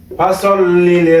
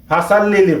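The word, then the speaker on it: فَصَلِّ: B calf জবর কা ফা সল্লি রব্বিকা এখানে ফাল্লি ফাসল যেহেতু এটা সৎ সেজন্য ফাসল্লি অনেকেই ফাসাল্লিলি ফাসাল্লিলি বলে ফাসাল্লি হবে না হবে ফাসল্লি কেন এটা আর আমরা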